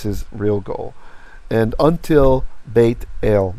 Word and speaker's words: Bethel: probably hear this because the reason we say bethel is because in tamakhit in ancient hebrew pronunciation a tav which did not have a dagesh was pronounced like th so that's why it was bethel the yemenites still pronounce